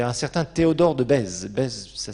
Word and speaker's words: Bèze: hop, il y a un certain Théodore de Bèze. Bèze, ça s'écrit B-E-Z-E.